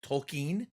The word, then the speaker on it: Tolkien: a massive tolkien fan as i think he says it is like tolkien which maybe you're not caught up tom and that's how it's correctly pronounced but uh i love hot